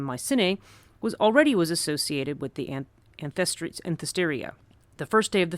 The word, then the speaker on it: Anthesteria: the, I'm never going to say this right, Anthesteria, okay, I did say it right.